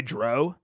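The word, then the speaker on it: drow: the pronunciation of Dr it's like brow but with a d what did I say did I say Dro I do I use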